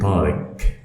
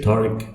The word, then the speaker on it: Tariq: it so it's powered when you write it in english we don't have half in english so they may write it in q or k and for non-arabic speakers they say parikh but it's okay for some people to say tariq as long as the one who are speaking to them as an arabic speaker is an old arabic